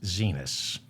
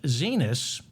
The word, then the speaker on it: Xinis: It's Xinis. I think it's pronounced Zenas.